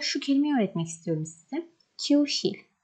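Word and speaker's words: 교실: Kyushil. Q, bakın. Bu K olarak okunuyordu.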